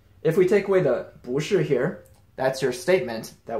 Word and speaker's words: 不: Now, quick reminder, this character, pronounced 不 by itself with a falling fourth tone, has a tone change rule, so if it precedes a character with a falling fourth tone, it changes into a rising second tone.